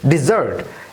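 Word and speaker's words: desert: উচ্চারণ হবে না, হবে ডিজার্ট, এবং মরুভূমির উচ্চারণ হবে ডেজার্ট।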